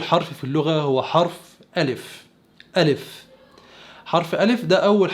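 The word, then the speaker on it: א: قلت ان اللغة العبرية مرتبة ترتيب ابجد هوس حطي كلم سعفص قرشت، وده معناه ان اول حرف في اللغة هو حرف الف.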